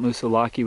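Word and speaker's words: Moosilauke: And there's Mount Musilaki right there, or Musilak. I think I've been pronouncing that incorrectly.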